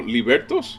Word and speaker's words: libertos: you are you are I get it now libertos libertos b r t o s l a